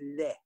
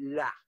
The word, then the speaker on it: laid: The French word for ugly is laid. Okay, that's the standard French word, except that French Canadians and Franco-Americans in some regions, they pronounce it la.